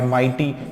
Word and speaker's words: mighty: तो कई बार ये जो है आपका जैसे माइटी, एक और वर्ड है MIGHTY, माइटी। तो इसमें भी जो है G और H जो है इसको भी हम लोग साइलेंट पढ़ाते हैं।